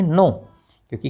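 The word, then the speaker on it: knock: और डब्ल्यू को कनो नहीं बोलना क्या बोलेंगे नो क्योंकि के तो साइलेंट है इसलिए बचा क्या एन ओ डब्ल्यू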